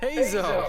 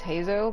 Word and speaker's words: Heizou: I know it's Z-O. U. Like, the U is there for the accent. Normally there'd be a dash above the O for the Zo sound.